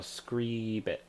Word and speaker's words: scribit: So, scribit. See how you say it, but you say scree, like scream.